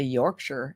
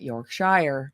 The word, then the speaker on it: Yorkshire: okay awesome Yorkshire England and notice I say Yorkshire not Yorkshire because I've had enough people yell at me and tell me how to pronounce it so I think I'm